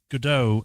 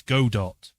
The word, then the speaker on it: Godot: I pronounced Godot as Godot for years rather than Godot.